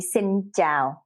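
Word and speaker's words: xin chào: uh the vietnamese word for hello would be sin zhao so in the episode notes i'm going to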